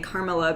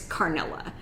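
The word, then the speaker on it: Karnilla: pronounce that uh wrong i keep saying carmilla because it sounds like caramel to me and in my head it's funny but her real name is it's carnella my bad that was like an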